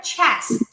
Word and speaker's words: chest: Ele é tipo um chiadinho. Então a gente faz um Eí quando a gente coloca na palavra chest.